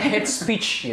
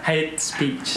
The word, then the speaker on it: hate speech: Jadi gimana pelafalannya head speech gitu? Coba. Head. Iya. Hate speech.